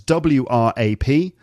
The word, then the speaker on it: wrap: W-R-A-P, but it's pronounced wrap.